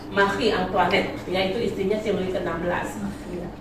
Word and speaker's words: Marie Antoinette: Maria Antoinette. Yang kalian sebut Antoinette. Antoinette bacanya Marie Antoinette, yaitu istrinya si Louis ke-16.